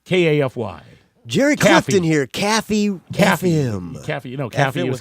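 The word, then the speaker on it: KAFY: So the K-A-F-Y, they pronounced it Caffey, like Kathy, but with an F, and the jingle went Caffey #1, and that was it.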